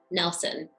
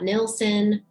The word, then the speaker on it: Gladys Nilsson: It's pronounced Nelson. I'm here to set the record straight. It's not Nilsson or Nielsen, because it's Nelson, because that's how her father pronounced it.